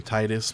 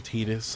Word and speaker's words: Titus: The color red says, "You call him Titus much better than Tetus." I always call him Titus. Thank you, Color Red. Thank you. It's so It's so good to have a fellow uh technically not canon incorrect pronunciation uh lover in the chat. I am right there with you, Color Red. I refuse to say Tetus.